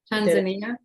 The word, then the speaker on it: Tanzania: I won't be able to say it correctly. Tanzania. Tanzania. Tanzania. That's how you say it.